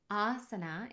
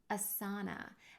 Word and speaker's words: āsana: a long way so asana is how you pronounce this word not asana and we use this diacritical mark to transliterate the word asana you can see there's a line above the first letter a and that line means that that sound is a long a sound ah like the English word father and if you see